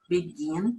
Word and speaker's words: begin: Então, podemos observar nesta tabela o verbo begin, e observe que a gente não fala begin, a gente fala begin, então a sílaba tônica está no final, e aí sim a